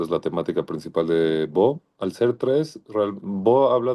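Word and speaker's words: בא: Bo, fácil, B tiene una voz se escribe la bet y luego la alif.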